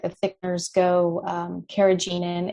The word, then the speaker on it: carrageenan: And then, anything, and, as far as like the thickeners go, carrageenan, it's an easy one to avoid.